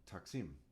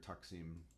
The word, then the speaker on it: taksim: with a k taksim this is the like when when arabic gets uh how do you say it trans mogrified transcoded into latin characters a k sound will have a q so toxin i'm before when